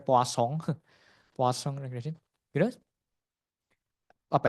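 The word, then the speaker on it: Poisson: yang disebut sebagai eh poisong regression. Poison. Poison regression. Aku enggak tahu bacanya itu karena orang Prancis ya. Jadi bacanya poasong.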